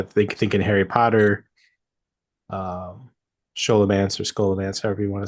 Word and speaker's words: Scholomance: everything that I saw everything that I saw was like skola man but then again there